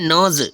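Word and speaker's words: nudge: है नेक्स्ट है एन यू डीजी क्या है नज क्या है नज यहां डी साइलेंट हो गया नज ठीक है नेक्स्ट है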